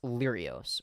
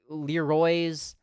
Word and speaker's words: Lyrios: Like, it's pronounced Lyrios, or Lyrios is close enough, right? But I had people say Leroy's, Leroy's, Leroy's.